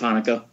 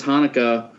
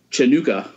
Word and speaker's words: Hanukkah: and he pronounces Hanukkah Chinooka.